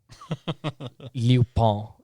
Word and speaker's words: Lupin: The actual French pronunciation is Lieu, Liu, and then Phegn, and the N is barely pronounced. So Pon. Lupin is like how it's supposed to be pronounced.